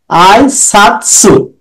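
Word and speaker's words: 挨拶: এটা আই, আই সাতসু।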